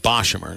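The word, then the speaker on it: Boshamer: he would bo uh bashamur's i think i've been pronouncing it incorrectly for a while bob i want to say beauchamer dave nathan the voice of rady of uh carolina baseball pronounced it boshimmer so we just got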